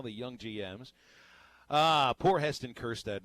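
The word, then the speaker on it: Kjerstad: young GM's poor Heston kirsta not a single member of the Baseball Hall of Fame all three hundred and thirty three of them have his silent Jay in their last name so boy it's just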